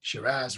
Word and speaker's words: Shiraz: sarah went to australia through a series of pronunciation issues with an australian accent over the years it became shiraz rather than cirrus and sarah's are from